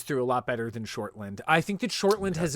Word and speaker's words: Shortland: that i think that in black widow kate shorthand shortland i'm gonna keep saying it wrong now because i wrote him i know it's kate shortland she shines through her directing voice shines through